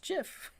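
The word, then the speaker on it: GIF: thank you very much it's pronounced jiff and hello cat Olli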